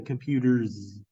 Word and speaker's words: computers: out loud because reading you may not know that this s sounds like a z and so therefore the